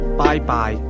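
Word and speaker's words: 拜拜: Bye-bye. Bye-bye. That's pronounced with high and mid-level tones. Say goodbye.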